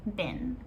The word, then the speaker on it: been: So been is pronounced more like B-I-N, been, when we say it quickly as a native speaker.